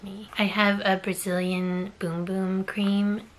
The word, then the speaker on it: Bum Bum: I have a Brazilian boom boom cream yes I know it says bum bum but it's pronounced boom boom if you've seen like